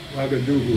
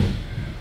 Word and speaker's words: Ouagadougou: Ouagadougou. Ouagadougou.